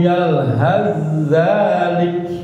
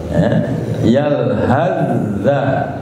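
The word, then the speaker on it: يلهث ذلك: Itu kalau waqaf yalhas pakai sa. Begitu Bapak wasolkan, Bapak sambung, maka sa diidghamkan ke dalam za, idgham mutaqarribain. Cara bacanya begini, Pak. In tahmil alaihi yalhas aw tasrukhu yalhaz zalik. Yalhazza, sa diidghamkan, dimasukkan ke dalam za, idgham mutaqarribain. Itu kalau diwasolkan.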